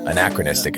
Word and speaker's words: anachronistic: Anachronistic is the better pronunciation, for sure.